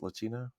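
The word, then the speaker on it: Leccino: Is that how it's pronounced? Lacino.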